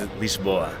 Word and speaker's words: Lisboa: you say lisban in Portuguese lisban in Portuguese L boa lia lia I'm so glad that Kyler speaks